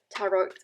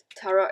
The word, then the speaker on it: tarot: gonna live shuffle the tarot i can't i can't pronouncing tara is taro which is like the yam maybe i'm like craving